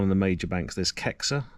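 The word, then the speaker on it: Caixa: There's Kexa. It's spelled C A I X A.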